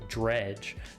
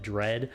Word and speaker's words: Dredge: with the video game Dredge. Now, I've actually never played Dredge, and you'll hear me talk about that more in the live play portion, where I also butcher the name. I called it Dread.